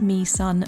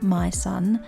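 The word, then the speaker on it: Mỹ Sơn: It's pronounced Me Son, not My Son.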